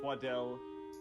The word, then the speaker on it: Twaddle: yes Dr Sydney twaddle it's pronounced twadell well congratulations sir you